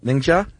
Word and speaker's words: Ningxia: Ningxia? That's you, man. You have a side career in Chinese pronunciation, I believe.